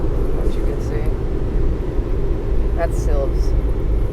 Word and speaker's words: Silves: can see that's silves i want to call it slivers for some reason i thought i heard that pronounced last night yeah they kind of it's like it should be like sylvester they've got a bit it's almost like the eye was silent hmm apparently they